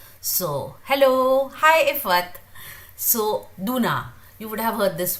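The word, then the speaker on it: 누나: It is written Nuna, but it is not Nuna. They do not pronounce it as Nuna. So that Nu is not very prominent.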